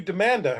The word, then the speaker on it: Demanda: This is Amanda, and she actually changed her name to Demanda, her last name to Demanda. First of all, it rhymes with Amanda.